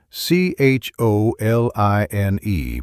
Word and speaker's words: choline: That's C H O L I N E pronounced choline.